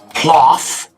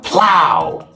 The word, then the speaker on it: plough: It's not plough. It's plow. Plow. O-U-G-H sounds like ow.